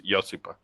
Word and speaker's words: Josipa: The J is like a Y, so it's Josipa.